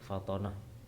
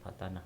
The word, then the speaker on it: Fathonah: kemudian yang keempat adalah sifat Fathonah itu bacanya adalah Fathonah bukan Fathanah tapi Fathonah yang artinya adalah cerdas